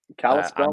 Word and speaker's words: Kalispell: spell yeah how do you say it kalispell kalispell montana yeah that's that's amazing but pastor kevin